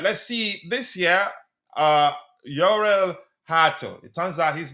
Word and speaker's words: Jorrel: Uh Yurel Hato, it turns out his name is pronounced his first name is pronounced Yurel.